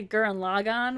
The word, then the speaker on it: Gurren Lagann: don't like the way i know that's how you actually pronounce it but i pronounce a guran logon which is probably the most american way to pronounce it you need to watch